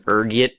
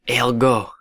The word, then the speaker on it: ergot: There's a few different ways you can pronounce it depending on your social standing, ranging from ergit to elgo. Being the disheveled pauper I am, I prefer ergot. Rolls off the tongue, you know.